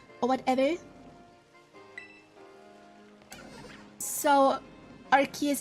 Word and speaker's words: Arceus: But I call him Arceus because in German it's Arceus, or whatever. So, Arceus is just kinda how I translate the German pronunciation into English.